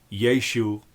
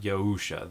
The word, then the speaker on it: Yeshu: Jesus's name in the first century CE in the Galilee would have been pronounced something like Yeshu or Yeshu. uh not Yahusha. That's not how anyone pronounced that name in antiquity.